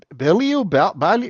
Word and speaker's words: Bilyeu: I don't know if I'm going to pronounce his name right. Tom Bilu Bilu Bilu. Yes, Tom Bilyeu.